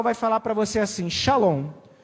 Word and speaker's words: Shalom: Você vai entender, é Shalom não tem outra pronúncia, shalom, shalom.